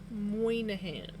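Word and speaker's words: Moynahan: Muahan because that's exactly how I figured it was pronounced, but I well that's exactly how I wanted to pronounce it, but I didn't think didn't think I was actually correct.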